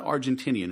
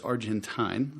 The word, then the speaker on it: Argentine: mback Argentine wine and it's not Argentinian it's Argentine I learned and it rhymes with wine so I kind of